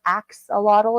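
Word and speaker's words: axolotl: really cute little creatures it's spelled a x o l o TL so it's with an a in the front so it's ox or Axe A lottle if you want to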